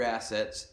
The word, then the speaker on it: assets: It's just good to cover all your assets, emphasis on the first syllable of that word, and have some liability insurance.